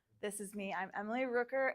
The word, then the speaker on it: Rooker: I'm Emily Rooker. It's like hooker, but with an R.